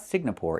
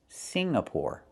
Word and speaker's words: Singapore: It's not Singapore, it's Singapore. The NG makes a sound in your nose. Sing, like when you sing a song. Together, Singapore. Not Singapore, but Singapore. Singapore is a country in Asia.